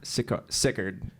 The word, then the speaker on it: Sicard: Sickard. Like A lot of people ask you guys that, don't you? Everyone, Sickard Hollow, but we say it like it from Alabama. Sickard.